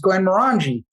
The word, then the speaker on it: Glenmorangie: You have to go to summer scotch, which is Glenmorangie.